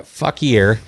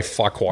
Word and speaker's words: Fauquier: end up in that Fuckier. Yeah. And then you're going to Fuckier. Cross to Needles. Fuckier to Needles. I don't think it's called Fuckier. Probably Fuckwar.